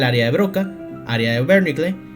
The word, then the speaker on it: Wernicke: How to pronounce this name in German? It is said as Wernicke. Wernicke.